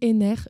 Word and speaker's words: Henner: À nos côtés également, nous avons Simon Henner. Je ne t'ai pas demandé si ton nom se prononce bien comme ça ou si c'est Henner. C'est parfait, ça se prononce c'est comme ça.